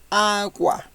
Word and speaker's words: agua: We can pronounce the u when we have it between the he and the a, u, o vowels. Okay, in this case, we pronounce the u, agua. Pronounce the u when you have these vowels, a, o, u.